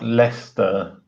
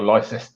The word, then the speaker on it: Leicester: Well, I mean, there's like places like Leicester and Gloucester and things like that, which I've spelt.